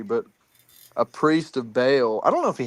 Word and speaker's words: Baal: Uh, a priest of ball or I think it's pronounced Bale, but people disagree. But a priest of Baal, I don't know if he had priests, actually.